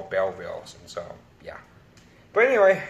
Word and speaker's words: Belleville: I pronounce it Belleville boots I used to pronounce it Bela veal boots bit of a knot and then my friend corrected me and he told me they'll call bell wheels and so yeah but anyway yeah so reason